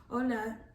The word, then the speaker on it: hola: but some of the audience may not know ola is just the term for the spanish term